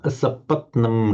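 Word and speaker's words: असपत्नम्: Okay, one little I think you pronounce this as a double T, sapatnam, asapatnam riddham.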